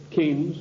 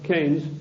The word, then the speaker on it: Keynes: they said John Maynard Keynes or Keynes he said Keynes was a better word because arrived with big rhymes with brains and this is a